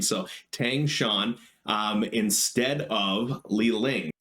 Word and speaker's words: Tang Shan: tang shan yes i did look up the pronunciation of his name so tang shan um instead of li ling so the esper